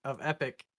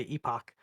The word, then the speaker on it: epoch: I'm going to correct his pronunciation and call it POAP because he challenged my pronunciation of epic and made me say epoch.